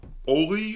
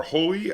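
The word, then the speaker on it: Holi: talk about is uh oli or holy i'm not quite sure the pronunciation i think it's oli i think the h is silent uh which is based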